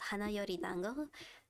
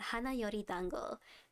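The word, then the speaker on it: Hana Yori Dango: there was this manga I really liked called hanor Dango sorry I mispronounced that Han Yori Dango it's like Boys Over Flowers and I really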